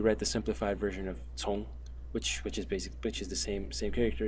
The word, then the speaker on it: 从: And the second general pronunciation is cong, as in the word hei cong cong, which means murky.